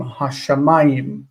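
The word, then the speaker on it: השמים: When we add stress onto the words, we put stress on any syllable that the word is not final. It doesn't receive stress on the final syllable. So this word is ha, sha, ma-gim, hashamayim, hashamayim. And we stress this syllable because it's not final.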